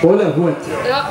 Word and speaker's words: Bollenhut: Und der Bolo, ja, wie spricht man richtig aus? Bollehut.